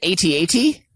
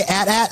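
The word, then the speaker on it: AT-AT: it was big boy don't you pronounce it 80 80 no i say at at and i watch the commercial and it also says at at from kenner toys official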